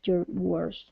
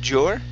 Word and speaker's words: your: diminished the value of your words. Okay, all right, good. All right, let's go to the word your instead of jor.